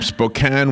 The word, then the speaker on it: Spokane: He's from Spokane, Washington. Do you say Spokane? Spokane. I think it's like tomato and tomato.